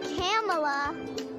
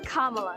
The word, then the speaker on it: Kamala: from some little friends it's not pamela it's not kamala it's not camella it's kamala kamala harris well senator says she's used to people mispronouncing her name but says it's easy to remember just combine comma with law except you dropped